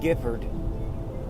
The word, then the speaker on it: Gifford: knew we'll call him gift Gifford rhymes with gift Gifford who took out a